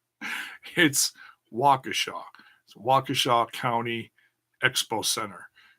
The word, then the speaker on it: Waukesha: rich bikini pronounced it whoa Keesha it's you're mispronouncing the wrong syllable hits Waukesha so Waukesha County Expo